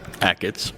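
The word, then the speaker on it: Achatz: Ackets.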